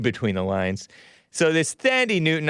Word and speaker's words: Thandie: the lines so this thandi newton i think it's pronounced tandy tandy newton but actually she